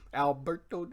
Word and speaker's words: Alberto: name right nope yes Alberto I feel like if you said it you'll roll your tongue with it yeah him too yeah